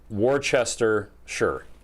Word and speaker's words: Worcestershire: england they don't say it's not pronounced shire it's pronounced sure wurster yeah actually they might even say worcestershire worcestershire or sure yeah